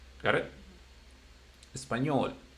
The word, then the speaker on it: español: Español, it ends with L, consonant. Español.